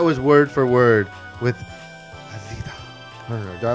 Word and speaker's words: Afida: Viewers and guests, now I bring you on the Talk Golden Me video podcast show, Afida Turner playing word for word.